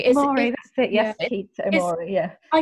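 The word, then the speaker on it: Mori: way through the books, people say things that rhyme in English with their names so that you know how to say them. So it's Kate and Maury.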